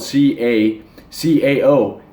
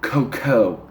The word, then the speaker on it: cacao: A lot of you guys say cocoa, but it's spelled C-A-C-A-O, cacao, or cocoa, whatever you want it to be called.